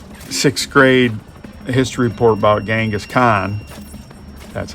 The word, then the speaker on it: Genghis Khan: So if it writes your 6th grade history report about Genghis Khan, that's how you say his name.